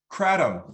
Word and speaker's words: kratom: Kratom, sometimes pronounced kratom.